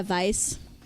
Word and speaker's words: Weiss: Oh, well, it took me a minute that you actually pronounced it the German way. Oh, yeah. Vice.